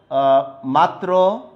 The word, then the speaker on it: মাত্র: দেখা যাচ্ছে, ওকে, মাত্র, তাইলে মাত্র তুমি যদি লেখো তাহলে কি হবে, ত রফলা আছে এখানে, ত এর সাথে তটা দুইবার উচ্চারণ হবে, ম মাত্র।